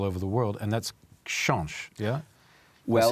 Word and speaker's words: Książ: Książ is exactly how we pronounce it. So yes, you pronounced it correctly. Okay? Książ.